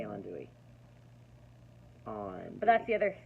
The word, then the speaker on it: andouille: I say andouille.